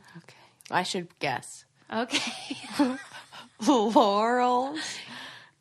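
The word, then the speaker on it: Lorals: Laurels. It's spelled L-O-R-A-L-S, not like the name of the flower.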